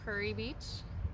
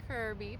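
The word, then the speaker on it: Kure Beach: And then just right down the road is Curry Beach. It's pronounced Curry, not Kerr Beach. The locals will definitely tell you're a visitor if you call it Kerr Beach.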